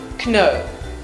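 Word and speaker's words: know: cane in the beginning of the word here is silent so we never actually slay no we say no similarly we have the correct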